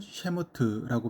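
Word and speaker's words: שמות: 출애굽기는 모세오경의 두 번째 책으로 히브리어 이름으로는 셰모트라고 발음하며 그 이름은 이름들이라고 하는 그런 뜻입니다.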